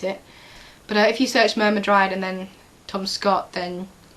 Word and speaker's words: Myrmidryad: Myrmidryad is more interesting, and that is, by the way that I pronounce it, myrmidryad.